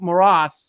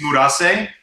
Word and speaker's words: Murase: I can't, if I pronounce this wrong, forgive, and I'm sorry, Kaizo Moras, or Moraes. Does anybody know how to pronounce that? It's Murase.